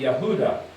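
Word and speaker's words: יהודה: So that sounds like a y sound that's the h there's the u there's the d and there's the h. So it be yahuda.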